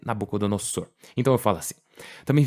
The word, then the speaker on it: Nabucodonosor: de falar e assim eu já ouvi ser pronunciado como Nabucodonosor Nabucodonosor é outra forma de se pronunciar já ouvi falarem Dos dois jeitos mas eu gosto mais de dizer nabc dosor então eu falo assim